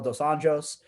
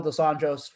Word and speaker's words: dos Anjos: Rafael dos Anjos won decisively. Yes, Josh. He's one of those ones that does Anjos. He's Brazilian. So it's not in Portuguese. It's not pronounced as an H.